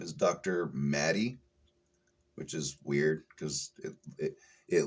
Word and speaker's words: Madej: Maddie, which is weird because it looks like her name is spelled Mage.